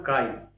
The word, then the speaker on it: chi: The term का देख रहे हैं सीएचआई has been derived from the Greek letter which is pronounce S की।